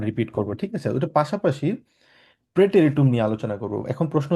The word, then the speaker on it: Präteritum: যেহেতু এখানে এ আছে এর উপরে উমলা আউট আছে। সাধারণত আমরা আ বলি। আ এর উপরে যদি উমলাউট থাকে সেটাকে আমরা এ উচ্চারণ করি। ওই জন্য প্রে টেরিটুম আমরা বলে থাকি।